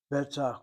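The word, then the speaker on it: בטח: Notice how I pronounce that word. Betach. Betach. Not betach. And again, know the Hebrew grammar rules. If ever in doubt, you sound the last syllable. But there are many times when the second to last syllable gets emphasized.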